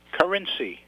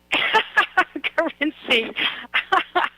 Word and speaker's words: Carinci: York way I can't pronounce your name you got to pronounce it for me currency currency thank you can I